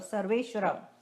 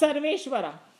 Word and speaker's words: Sarveshwara: Sarveshwara. Sarvesh, Sarva Ishwara. Sarva, See, you're getting better at Sanskrit. Sarva, but how do you pronounce? Ishwara. Ishwar means God. Sarva means How all. do you pronounce? Sarveshwara. Sarveshwara.